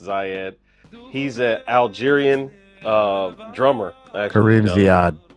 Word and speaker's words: Ziad: I think it's pronounced Zayed. He's an Algerian drummer. Actually. Kareem Ziad. Yeah, Ziad.